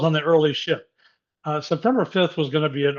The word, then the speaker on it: September 5: But then I found out about this film called September 5. I call it September 5th, but I read that people call it September 5.